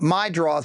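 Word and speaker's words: Meidroth: My draws.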